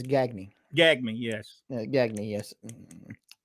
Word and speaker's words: Gagne: ganya I could do gonya and some of those names though I cannot well you know that the proper pronunciation of that is gagny gag me yes gagne